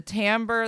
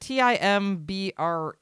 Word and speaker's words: timbre: word t-i-m-b-r-e in English and of course American English we say it like Timbre it is not Timbre or something weird and it's specifically because we want to distinguish it from the other English word of Timber which is the lumber